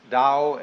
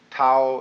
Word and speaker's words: Tao: called the Dao Tao pronounced Dao in the Mandarin dialect Tau in the changhai dialect toe in the Cantonese dialect take your choice Dao